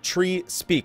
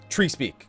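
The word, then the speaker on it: Treespeak: Is the area tree speak in North Shroud pronounced trees or Trey's Peak, the end of a tree not stuck in the ground, or tree speak, the Arctic conversing with Flora?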